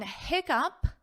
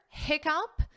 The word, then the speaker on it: hiccup: But this double C is still confusing because it's pronounced as a k, hiccup, hiccup.